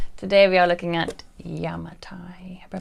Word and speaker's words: Yamatai: hey everybody hello today we are looking at yamatai i pronounced that correctly yamatai today's a wonder game uh two to four